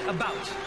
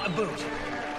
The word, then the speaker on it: about: French not American and I pronounce it about not a boot I can proudly soul